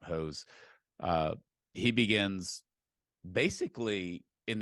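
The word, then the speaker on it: Höss: spelled h SS but in German it's it's pronounced hose uh he begins basically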